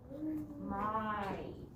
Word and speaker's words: my: So remember, the Y at the end, when there's only one syllable, it makes the I sound. My.